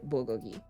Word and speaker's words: bulgogi: You said it right, bulgogi.